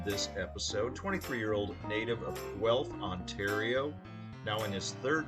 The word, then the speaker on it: Guelph: All right, Firebirds friends, as prefaced, my guest on this episode, 23-year-old native of Guelph, Ontario, now in his 3rd season with the Firebirds, crushing it, totally crushing it, as mentioned earlier in the show.